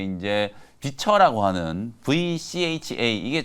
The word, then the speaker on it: VCHA: 기대하고 있는 게 이제 비처라고 하는 VCHA 이게 참 교묘하게 이름 장명을 좀 잘한 것 같아요. 우리나라로는 이제 비처 이렇게 이제 발음을 하면 되고 그 미국식으로는 뭐 V차 이렇게 이제 발음하면 될 것 같은데 A2K 프로젝트라고 해가지고 미국